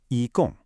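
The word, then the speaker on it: 一共: The first character, yi, is a high, flat first tone. Say it with me. Yi. Good. The second character, gong, is a sharp, falling fourth tone.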